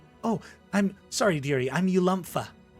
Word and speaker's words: Ulumpha: your name again oh i'm sorry dearie i'm ulumpha how do you spell that well that's going to be spelled u-l-u-m-p-h-a